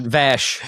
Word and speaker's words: Vash: You said Vosch. And I'm thinking Babylon 5. I'm like, did they That's I know. I know. It took me a second. I I'll say it like Jean Luke says it. Vash. It's Vash.